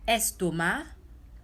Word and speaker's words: estomac: So the exceptions are nasal vowels and these words: estomac, porc, and tabac. We don't pronounce the C's.